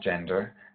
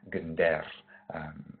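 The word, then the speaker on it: gendèr: an instrument called gender, not gender, gender. It's just a hard G, and we emphasize the second syllable, so gender.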